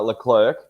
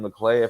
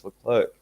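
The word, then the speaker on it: Leclerc: everyone's been calling him the clear for so long but yeah yeah he puts it puts a c or a K on the end of his when he when he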